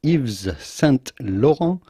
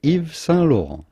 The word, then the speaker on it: Yves Saint Laurent: saint laurent himself iv so again the t's here at the end of sun and lore are silent so do not say eves saint laurent the s of evie is also silent so say if salon if the saint laurent